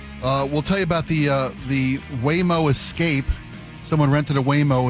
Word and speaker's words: Waymo: numerous occasions today, so I say it's pronounced Waymo. Waymo, not Waymo, like I've been saying for the last 7 years.